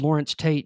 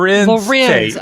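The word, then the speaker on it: Larenz Tate: told Lawrence Tate, you know how I got these scars? Did you say Lawrence Tate? Yeah, what's his name? Lorenz Tate.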